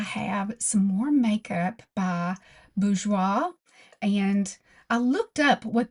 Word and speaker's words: Bourjois: Today I have some more makeup by BGEOA. And I looked up what that meant and first it gave me the meaning of B O R G E O I S pronounced bgeoa.